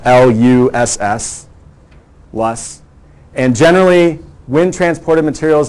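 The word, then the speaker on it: loess: parent material we call LUSS. It's a German word. It's pronounced L-U-S-S, LUSS.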